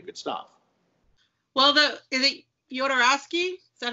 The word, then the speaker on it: Jodorowsky: Well, is it Jodorowsky?